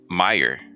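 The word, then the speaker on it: Mayer: with the E and we pronounce it uh Meyer Oscar Meyer kind of like um what's this what's his name Michael Myers it's kind of the same thing Meyer yeah I pronounce it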